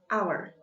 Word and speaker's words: hour: an elephant an owl also an hour even though it start with age but if we pronounce it it sounds vowel o or our hour so the example of